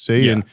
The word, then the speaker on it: Saiyan: Also, the joke was cuz you thought it was pronounced and then I was like, you idiot. It's Saiyan. Apparently, it is and Americans in the dub have been saying it wrong for forever.